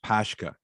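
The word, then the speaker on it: pączki: looks like a donut i think it's pronounced pashka do you know what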